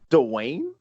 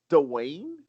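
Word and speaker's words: Duane: So Ronald Dwayne Psychowski received 1 vote. Dwayne? Yeah, Dwayne. Folks, there it is. Hot news. Wait a minute. News. All these years, how the hell did I not? Dwayne?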